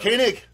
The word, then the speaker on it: Koenig: yeah okay well and you've also got uh michelle and walter uh conan there as well dr koenig koenig okay proper pronunciation i'll i i will just never forget